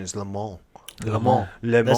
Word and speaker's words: Le Mans: way for the record I used to say LeMans when I would and I learned that that pronunce proper pronunciation is the mall the mall it sounds very limo level and